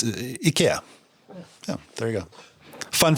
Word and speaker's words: IKEA: well Swedish you should because that's how you pronounce it well I know I've heard other people say KX and that's not correct Kevin speaks Swedish so